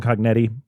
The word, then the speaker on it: Cognetti: So this was written and directed by Stephen Cognetti. Is that how you pronounce his last name?